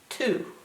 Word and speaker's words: two: word two w o two now if I said this phonetically it would be 12 because the O is